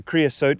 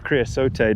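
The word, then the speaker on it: creosote: in this uh yeah it's a creassot bush or creassot depending on how you like to pronounce it.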